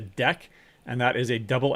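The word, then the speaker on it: deque: u e u e d e q u e by itself is a deck and that is a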